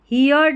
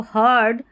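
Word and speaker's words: heard: And everyone, हियर्ड नहीं पढ़ना है इसको, हर्ड अ स्ट्रेंज, स्ट्रेंज, यहाँ पर भी देखें STLE है, तो इसको सल करके पढ़ना है, T साइलेंट है, ठीक है।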